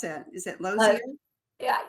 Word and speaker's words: Lozier: Is that Loier? Yeah, I call it loir. Um depends on if you have a little French background or not.